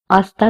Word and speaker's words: hasta: say to that person, hasta luego. The H again, it will be silent.